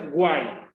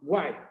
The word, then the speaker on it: guay: Dice, se pronuncia guay. Como guay. No es guay con G, es solamente U-A-I. Guay.